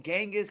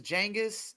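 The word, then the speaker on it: Genghis: kind of like the how we call genas Khan his real name is jangus not genas that's what really kind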